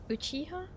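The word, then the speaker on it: Uchiha: It's pronounced Uchiah.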